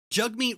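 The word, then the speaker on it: Jagmeet: Fu in their chamber yep jug meet was like talking for like like [ __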